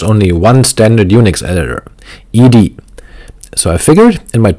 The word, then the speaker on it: ed: I've pronounced Ed as Ed but it turns out that the proper pronunciation is in fact e d as noted by Brian